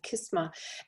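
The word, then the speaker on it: Qis-ma: q-i-s hyphen uh uh m.a but a phonetic pronunciation of kisma and it um it's an arabian moon goddess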